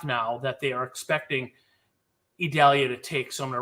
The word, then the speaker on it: Idalia: you came up you found out it is idalia yeah yeah I've had to Google it because